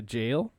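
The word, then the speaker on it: gaol: went to a a jail which is spelled gowl g-a-o-l like a jewel I don't know it's pronounced like jail I think that's just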